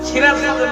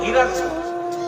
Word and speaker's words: সিরাজগঞ্জ: সিরাজগঞ্জের লোকেরা জীবনে সিরাজগঞ্জ উচ্চারণ করতে পারে। তখন ওরা বলে হিরাজগঞ্জ এই হিরাজগঞ্জের হোলা লগে